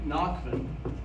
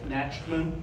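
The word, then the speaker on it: Nachtmann: expel your last name it's nachman okay but it's spelled n-a-c-h-t-m-n means nightmare in german so natchman or nachman okay and we'll have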